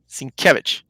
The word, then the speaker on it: Sienkiewicz: Sienkiewicz, right, Jess?